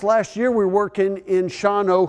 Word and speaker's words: Shawano: we're working in Shawano who I called Shawano until finally somebody said Roger we're gonna hire you anyway even though don't know how to pronounce our name I thought that was so easy Shawano how can you ever get that wrong and then Wassa Wassa